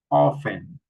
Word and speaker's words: often: Here, castle, castle, Christmas, fasten, hustle, listen, mash, mortgage, nestle, often, okay? We don't pronounce the letter T in these words.